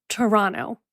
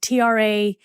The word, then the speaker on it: Toronto: And that is how you say it, Toronto, like Traanto, Toronto.